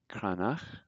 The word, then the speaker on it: Cranach: C is always pronounced like a hard C, like in cake, like a K. So this is Café, Cranach.